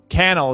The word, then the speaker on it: Cannell: it wrong every time canal is how you actually say it right sean cannell rhymes with youtube channel nice that's that's it